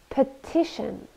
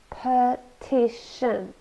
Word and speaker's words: petition: to launch a campaign petition petition three syllables and we stress the second one petition it's a noun or